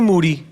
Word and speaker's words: Moody: Moody. Mm-hmm. Last name rhymes with duty.